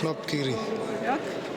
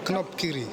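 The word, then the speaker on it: knobkierie: I'm not sure how it's pronounced. Knopkiri. Knopkiri.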